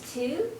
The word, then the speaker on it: Thu: Hi, my name is Tu. THU, you pronounce it number 2, but it's Vietnamese and it means books.